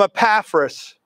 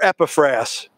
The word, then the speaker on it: Epaphras: me you learned it from epaphras or epifras i've heard it pronounced both ways you've learned it from